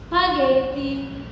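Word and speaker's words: spaghetti: تمام، ولو جاء وراها اكا ايه بقى زي كده هنطقها سي. جي ج ج ج جي، زي لما اقول سباجيتي.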